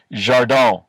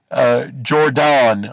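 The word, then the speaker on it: Jardine: name, anglicized it, but I think it was pronounced Jardin. And Campbell has Robert Richardson spell it, or maybe Robert Richardson spells it. He mispronounces it. It looks like Jordan or Jordan. It's D-A-N. But it is a French pronunciation.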